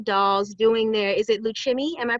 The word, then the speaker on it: Lukumi: Here's a photograph of the Cuban dancing dolls doing their, is it Luchimi? Am I pronouncing that Yes, right? yes, Lukumi, yeah.